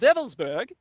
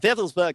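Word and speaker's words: Wewelsburg: the shutle castle of velburg spelled with W's it's pronounced as a v in the Germanic w l uh w l s b RG and vburg Castle was where he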